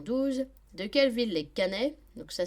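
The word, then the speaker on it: Caennais: De quelle ville les Canais, donc ça s'écrit C-A-E-2-N-A-I-S, sont-ils les habitants ?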